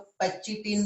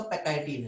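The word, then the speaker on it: pachytene: अब मैं इसे पैकाइटिन बोलता हूँ, कुछ लोग पैचिटीन बोलते हैं। ठीक है, तो आप जो भी प्रोनाउंस करना चाहो, बट एक्चुअली सही प्रोनाउंसिएशन जो है इसका पैकाइटिन है।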